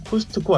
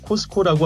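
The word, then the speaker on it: Costco: 있습니다 유명 회원제 할인점인 코스트코 아시죠 미국에서는 트가 묵음이 돼서 코스코라고 하는데요 코스코에서는 구매자가 물건을 산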